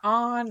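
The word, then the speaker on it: Anh: We've got, is it Anne or on, or what is the spell? On. What is the pronunciation?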